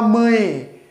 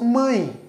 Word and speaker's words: mãe: dificilmente nós vamos falar mãe né nós falamos mãe mãe então H Embora tenha a letra e este e ele tem som de i também então nós podemos com